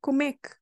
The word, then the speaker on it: como é que: You have como é que, but we pronounce comek. Comek, 3 letters, 3 words, 1 sound.